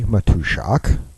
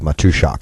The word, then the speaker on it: Matuszak: listening to here, my name is Matushak. Name is well, depending on what languages, foreign languages you speak, either it's spelled exactly like it's pronounced or uh nowhere near.